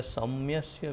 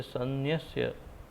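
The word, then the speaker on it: संन्यस्य: कभी कभी सन्न्यस्य या सम्यस्य भी बोलते हैं, तो किसी किसी प्रांत में सम कर देते हैं, किसी में सन्न बोलते हैं, तो उचित है ऐसे सन्न्यस्य इसका उच्चारण है।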